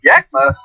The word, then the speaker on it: Yakima: Pronounced Yakima?